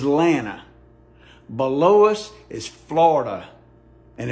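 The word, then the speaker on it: Atlanta: liquor store as landmarks let me give you a few proper pronunciations in the South to the east of us is South Carolina and North Carolina the capital of Georgia is atanta below us is Florida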